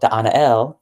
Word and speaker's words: Da'anael: So Da'anael is how you pronounce the being's name.